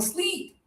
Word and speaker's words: sleep: Okay, and here we have a popular verb, high tongue, sleep.